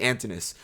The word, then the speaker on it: Antinous: I can now say his name properly, Antinous.